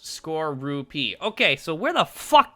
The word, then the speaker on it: Skorupi: It's pronounced Skorupi.